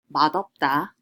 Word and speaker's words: 맛없다: And one last thing to note is that there is an exception to the resyllabification rule. Look at our example, 맛없다. 맛없다. It means not delicious. It is not resyllabified as 맛없다, although it is supposed to be based on how we learned.